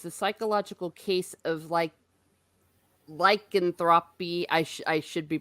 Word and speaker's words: lycanthropy: Oh, Orange Hat Review says the psychological case of lycanthropy. I should be pronouncing Lycanthropy.